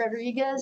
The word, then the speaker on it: Rodriguez: You gotta roll your R's. Rodriguez Well, you go otherwise.